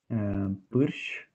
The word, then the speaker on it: pârș: Because this U sound is quite complicated for most of the people to pronounce, especially if they're Russian or Turkish. And then also there is a weird consonant and then it's clustered with an R. So it's quite a close sound. You have to pronounce it in a breath, and it's quite a